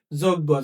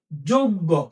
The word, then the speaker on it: যোগ্য: আমরা সারাজীবন বলে আসছি যোগ্য। যোগ্য না। আচ্ছা দেখ এটার উচ্চারণটা কি? এটার উচ্চারণটা হল যোগ্য হ্যা য তাহলে এই যে